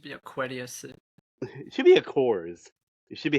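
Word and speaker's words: Aqours: It should be how it should be. A Coors? Yes, because it's spelled AQ and then hours. So the girls are literally looking at this going, I don't know how to pronounce this. Oh. Well, they're like, it looks like a combination of aqua and hours.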